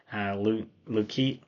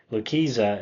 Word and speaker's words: Lucchesi: Our starting pitcher was Joey Lucchesi, is how I say his name. Lucchesi is what I call him, because that's how it's spelled. Lucchesi is how you say his actual name.